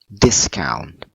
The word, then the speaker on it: discount: okay addiction so ah this one is a noun so we put on the first syllable discount discount okay ah this one two